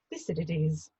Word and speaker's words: Thucydides: she specialises in ancient Greece, and more specifically, Thucydides.